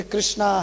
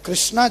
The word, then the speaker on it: कृष्ण: जैसे कृष्णा हरे कृष्णा हरे कृष्णा, अब कृष्णा जो है शुद्ध उच्चारण नहीं है, कृष्ण है, तो लेकिन हमारी भावना